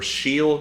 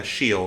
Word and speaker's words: Scheel: Cars of the World by JD Scheel, or Scheel, yeah, Scheel is probably how you pronounce that, JD Scheel.